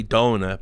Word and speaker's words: Dona: Now, this is Owner Pixel's interviewer, I say Dona, I think, and I've been told that is the right way to pronounce it.